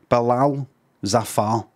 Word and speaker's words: Bilal Zafar: The emphasis is on the second syllable of each of the names. Bilal Zafar. Bilal Zafar. Bilal Zafar, and that's out his own mouth.